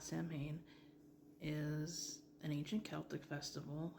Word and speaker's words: Samhain: Samhain, not Samhain, is an ancient Celtic festival. If I remember correctly, the pronunciation of Samhain comes specifically from Ireland.